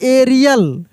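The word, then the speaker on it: aerial: लेकिन वहीं अगर लिखा रहता ए ई आर आई ए एल, इसको हम लोग पढ़ते एरियल, एरियल। तो यहाँ पर भी ए ई को हम लोग ए ई को ए ही पढ़ दिए।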